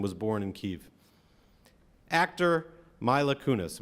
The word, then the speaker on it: Mila Kunis: Actor Mila Kunis, am I pronouncing her name correctly? Mila, see? I knew somebody would know.